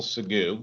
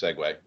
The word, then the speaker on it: Segway: call in my world a wonderful sagu which I know is actually pronounced Segway no need to tell